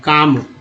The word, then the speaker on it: calm: ये देखिए LM है, जैसे CALM काम, है ना, LM का उच्चारण M के रूप में हो रहा है। एक्चुअली L जो है साइलेंट हो जाता है, ये साइलेंट लेटर।